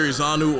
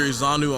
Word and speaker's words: Ezeonu: if you have facebook just type in izanu or vote izanu on facebook my last name is spelled e-z-e-o-n-u is j-u-n-i-o-r so vote